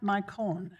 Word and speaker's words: Mycone: How about Pat Mycone? Sorry if I didn't pronounce that right. Thank you. It's my cone, not your cone, my cone.